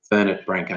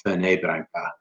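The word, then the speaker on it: Fernet-Branca: on I think but it's not French I think it's Italian so I think it's fernet branca not for neighboring mg toe what's a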